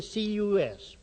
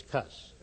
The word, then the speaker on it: cus: To this suffix, the prefix C has been added for the sake of euphan, making the full termination cus pronounced with a hard c. Cus as amikus Americanized, it's cuss.